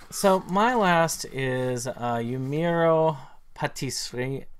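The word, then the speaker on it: Pâtissière: It's, So my last is Yumeiro Patissiere. I pronounce it with the French. Patissiere.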